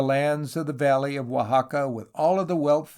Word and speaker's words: Oaxaca: Oaxaca, pronounced Oaxaca, is some 300 miles